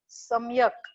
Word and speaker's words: Samyak: Samyak. Samyak. S-A-M-M-Y-A-K. Yes, ma'am. Am I pronouncing your name properly, beta? Yes, ma'am.